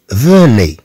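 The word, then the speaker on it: venez: ثم عندنا هاد اوزيد التي تنطق ايضا، ثم عندنا اوزيد التي ايضا في حالات كثيره انها تنطق ك اي، تنطق اي، كما عندنا هنا فوني، خاصه مع الافعال اللي تتصرف مع فو انها تنتهي في البريزون مثلا، تنتهي بأوزيت.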